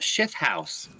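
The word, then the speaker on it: Shithouse: a long time ago my family's last name was pronounced shift house okay it's s-h-i-t-h-o-u-s-e let's pronounce [ __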